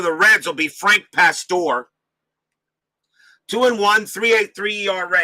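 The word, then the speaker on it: Pastore: CP cards and dice says milna Pastor that's how it's pronounced Pastor okay thank you Larry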